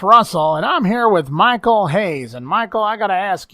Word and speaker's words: Michael Hayes: that us title and stop calling me Michael Hayes it's Michael Hayes don't you hear how I pronounce my name well you're all gonna